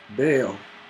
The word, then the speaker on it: Bale: me like a book Bale rhymes with fail you get that you